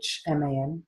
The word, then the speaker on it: Lachman: And although it's pronounced latch, like in, you know, key latch, it's Lachman.